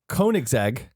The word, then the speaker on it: Koenigsegg: taught me how to say this correctly um Koenigsegg good job they do pretty good I think code exact correct me from wrong Koenigsegg they have the new Koenigsegg I'm gonna keep saying Koenigsegg yesco or Jesco depending on what side of